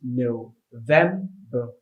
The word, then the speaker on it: November: It's November. It's spelled November.